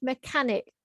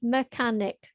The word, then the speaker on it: mechanic: Now the word mechanic, again, 3 syllables, all fast. Mechanic.